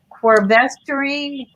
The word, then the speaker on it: quercetin: Quercetin, did I pronounce that right?